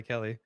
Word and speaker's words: Kelly: It's really disappointing that my name rhymes with the word smelly. Um, It's my I last know name that's not too. the point. That's Smelly true. Kelly.